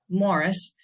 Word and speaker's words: Maurice: his uh son Morris it looks like it's spelled Maurice but it's uh Morris um I am in